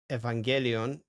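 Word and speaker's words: εὐαγγέλιον: Evangelio, Evangelion, Defteros, Evangelion, Defteros. So you pronounced it in the stream like "oi", right?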